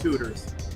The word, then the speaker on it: Tudors: Well, I was gonna say that it's pronounced Tudors. It rhymes with Hooters, but your thing is more interesting.